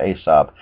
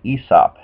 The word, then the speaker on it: Aesop: guy named esop or in america it was pronounced aesop but properly pronounced esop and his fables a little bit of background